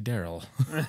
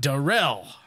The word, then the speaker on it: Darrell: I say Daryl. It's Darrell.